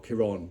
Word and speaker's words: Kieran: of Nolt was saying Kieran or Kiran depend now you want to pronounce it so Saint Jerome was